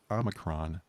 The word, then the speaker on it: omicron: i'm the krom because that's how biden was pronouncing it it's omicron um yes and i got to do a